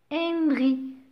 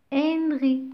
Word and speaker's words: Henry: Donc, je vous ai déjà dit dans une vidéo précédente que le H est toujours une lettre muette. On ne la prononce pas. Alors, Henry. Henry. Mais là, c'est un H aspiré.